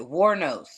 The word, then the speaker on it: Wuornos: It's crazy to me that, that it kind Oh, of I know sounds how to pronounce it. Warnos.